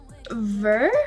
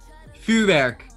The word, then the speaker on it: vuurwerk: Ver? Is that how you say ver work? Vuurwerk. Firework. Yes, Katy Perry.